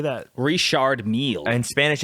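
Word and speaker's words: Richard Mille: uh Richard Mill how do you say that reshard meal and Spanish it's Mia Mia uh in in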